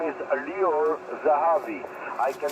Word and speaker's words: Lior Zahavi: His name is Lior Zahavi. I can spell it for you.